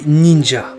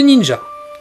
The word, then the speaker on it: ninja: Mais ce sera dans le manga Sarutobi Sasuke, publié en 1955, que l'auteur Shigeru Sugiura formera les mots ninja ou ninja, donc à partir de la prononciation chinoise pour désigner les shinobi japonais.